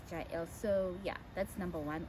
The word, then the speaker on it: Jael: The only reservations I have is like, most people pronounce it Jael, and it sounds like jail, right? I think Hebrews pronounce it as Yael, but I like pronouncing it as Jael.